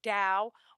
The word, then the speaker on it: Tao: It is either spelled with a D or a T. They're oddly enough, it sounds exactly the same. You would say it Tao, whether it's spelled with a T or a D, means the same thing.